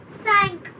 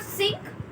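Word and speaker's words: cinq: Sank. It's not sink, sank.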